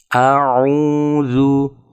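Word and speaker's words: أَعُوذُ: Selain itu, untuk memastikan vokal tidak terdistorsi saat membaca dammah dalam kata "auzu". Salah satu contoh distorsi adalah "auzu" di mana huruf "u" asli dammah dibaca sebagai "u" (sedikit bergeser). Auzu. Hal itu harus dihindari.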